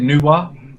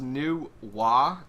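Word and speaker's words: Nu Wa: it's how is it nuwa yeah i guess it's pronounced new wah and uh i was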